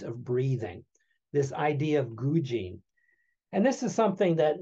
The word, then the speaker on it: gujin: One thing that I find very interesting is, and you may have run across this, it's the Zen expression gujin. If we were to spell it, it's G-U-J-I-N.